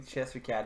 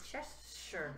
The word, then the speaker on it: Cheshire: typing Chester Cat and there's no, autocorrect, so it's spelled correctly. But it's not, it's the Cheshire.